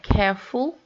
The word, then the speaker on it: careful: And so if we have careful, we stress the first syllable.